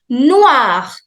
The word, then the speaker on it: noir: Noir. Noir. So OI in French is always OA. OA. So noir. Noir. Which is black. Noir.